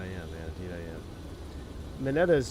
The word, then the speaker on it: Mineta: Mineta's Japanese name and Japanese pronounce how it's spelled. Mineta.